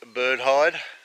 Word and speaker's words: bird hide: this might be it i've actually been saying it wrong it's not the bird hive it's the bird hide this side done mustn't